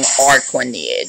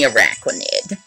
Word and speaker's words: Araquanid: I kept saying Arquanid or Araquanid or something like that. But it's definitely Araquanid.